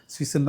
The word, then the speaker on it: Suisse: Credit ஸ்விஸ் bank அப்படின்னு pronounce பண்ணும்போது ஸ்விஸ்ன்னு தான் சொல்லணும்.